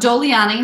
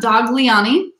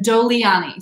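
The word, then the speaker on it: Dogliani: now this area called doliani now remember again the middle g is silent for this word so it's not dog gliani but doliani so do a deer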